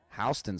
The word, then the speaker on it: Houston: at a bar on houston street because you guys don't know what that is that's a new york thing it's houston they just say it wrong i've just been picking